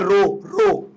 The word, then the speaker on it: rho: Now specific resistance और resistivity है ना, ये होता है आपका रो, इसको प्रोनाउंस करते हैं रो, ये सिंबल है, इसे RHO बोलते हैं, रो, ठीक है।